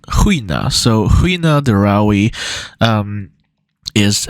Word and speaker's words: Gina: by the name of Gina dawi or that's how we'd say it in English English um in Swedish Gina is pronounced Hina so Hina Dai um